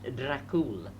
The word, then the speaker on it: Dracul: The Romanian word for dragon happens to be Dracul, pronounced Dracul, and the order's escutcheon showed a cross beneath which hung a dragon.